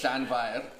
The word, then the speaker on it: Llanfair: So it's Llanfair, and the F is quite hard, so it's Fair. Yeah, F is a V. And you roll your R's.